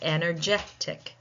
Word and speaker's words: energetic: So if it ends in tion or ic and it's more than 3 syllables, we tend to put the stress on that syllable that precedes that suffix.